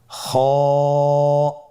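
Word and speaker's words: خ: খ হরফটির মাখরাজ হলো কণ্ঠনালীর শেষ ভাগ হতে উচ্চারণ করতে হয়, কণ্ঠনালীর শেষ ভাগ। আপনারা আমার সাথে বলুন খ, আবার বলুন খ।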